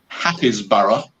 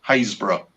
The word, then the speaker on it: Happisburgh: properly, it would be Happisburgh, but pronounced Haysborough. Okay. So we tend to say the first word and a bit of the last word and miss out the middle.